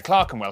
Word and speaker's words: Clerkenwell: Southwark, ER is pronounced R. Berkshire, Clerkenwell, Hertfordshire.